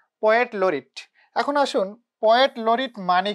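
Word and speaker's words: laureate: তাকে বলা হয় ফার্স্ট পোয়েট লরিট অফ ইংল্যান্ড, আর এটার উচ্চারণটা হবে লরিট।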